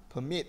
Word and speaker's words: permit: Permit, I'm sorry. Permit. Thì trọng âm rơi vào hai đúng không? Động từ.